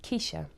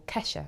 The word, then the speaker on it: Kesha: is a young woman called Keisha, or Kesha is it actually pronounced.